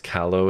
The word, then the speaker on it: callow: I always pronounce callow as if it was rhymes with tallow.